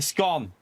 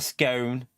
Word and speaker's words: scone: It's a scone. No, it's a scone, not a scone.